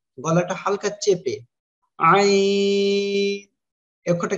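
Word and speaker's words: ع: আইন, খেয়াল করেন এইরকম হালকা বাক হবে আইন।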